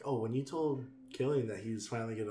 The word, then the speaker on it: Cillian: Or is it Cillian or Killian? It's Killian. I think it's Killian. I've been saying his name wrong this whole time.